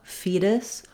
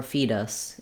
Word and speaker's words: fetus: Then lastly, the last syllable can sound like us or is. The most important thing here is that you have a reduced vowel that's short. You don't want to spend a lot of length on it. So fetus or fetus. It doesn't matter too much.